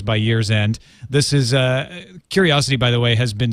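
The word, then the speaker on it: Qriocity: But it's pronounced Curiosity.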